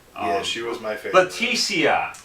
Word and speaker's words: Leticia: Leticia, not Letitia.